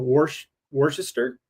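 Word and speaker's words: Worcester: Worester.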